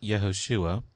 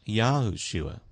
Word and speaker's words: Yahushua: But for reasons we'll explain later in this seminar, the actual accurate pronunciation here is not Yehoshua, but Yahushua.